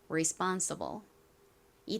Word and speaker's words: responsible: responsible이 단어의 가장 큰 강세는 B 부분에 있습니다.